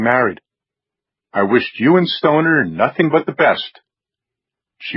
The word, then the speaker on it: Stoner: Are you aware that Stoner rhymes with boner?